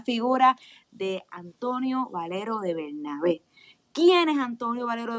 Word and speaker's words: Bernabé: Antonio Valero de Bernabé. Con acento en la última E.